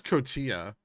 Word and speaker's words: Cotija: that Cotija I think it's cotea yes it is okay weird coincidence